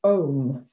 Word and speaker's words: Om: english or in the latin alphabet it's actually pronounced ohm a-u-m uh so we practice the three sounds